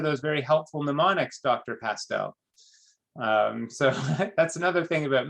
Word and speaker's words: Castel: So I'm telling you my last name rhymes with pastel. It's Castel.